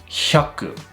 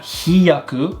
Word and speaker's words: hyaku: hyaku. Not hiyaku and not hayaku. Hyaku. H-Y-A. Hya. Hya. Hya. Hyaku.